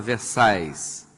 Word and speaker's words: Versailles: Quem gosta, em português é Versalhes, o francês fala, não pronuncia L, fala Versailles. Muito bem, palácio belíssimo, quem conhece lá em Paris, os jardins são, né, grandiosos, né?